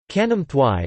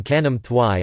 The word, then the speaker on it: Khanom thuai: Khanom thuai, or Khanom thuai talay, Thai, Khanom thuai, Khanom thuai talay, Thai pronunciation, K, Nam T uij ta, Laj, is